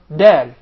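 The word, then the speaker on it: دال: So the Dal is pronounced from the top side of the tip of the tongue.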